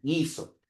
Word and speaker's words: guiso: La primera es gi, la otra es gui, guiso.